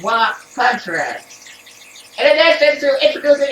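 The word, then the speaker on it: は: Ha particle, pronounced as wa contrast.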